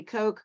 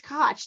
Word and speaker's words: Koch: how to pronounce it it could be Coke cook you know it comes up with all these things it's Koch like Scotch so hi I'm